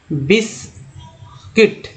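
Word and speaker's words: biscuit: अब देखिए baguette, baguette जिसमें यू जो है साइलेंट है, बिस्किट, क्या पढ़ते हैं, बिस्किट, क्योंकि यू को साइलेंट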